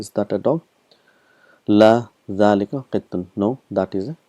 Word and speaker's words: ذلك: So we've learned that hadha and dhalika is one of those words where it is pronounced but it is not written.